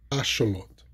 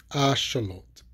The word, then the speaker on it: Axolotl: So I'm going to pronounce them. Axolotl, Axolotl, Axolotl, Xolotl, Xolotl, Xolotl.